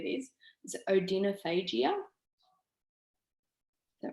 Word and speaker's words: odynophagia: if anyone knows how to say this is odenophagia is that right yes odynophagia so after eating that neck stretching and just